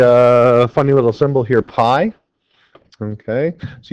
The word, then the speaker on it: pi: funny little symbol here Pi okay so you pronounce it just like the pie you eat at home apple pie blueberry pi